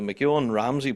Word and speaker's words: MacEoin-Ramsey: And we're about to find out the story behind the Mcan Ramsey pipe band. Did I pronounce that right?